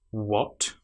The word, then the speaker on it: what: So we start with our missing H sound by saying what. And sadly this is the letter A. It sounds like the short vowel sound o. But we have the letter A there.